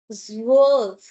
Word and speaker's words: zwölf: Zwölf. So, it's like Z plus wolf. But, we have umlaut, so O umlaut has ill ill sound, right?